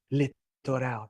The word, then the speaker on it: littoral: Litoral. Thank you. That's amazing. Keep it coming, okay? Litoral. I would have said littoral. Sounds like a toilet.